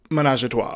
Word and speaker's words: Menajahtwa: Okay, so, but it's spelled Menajahtwa. Menage a Trois.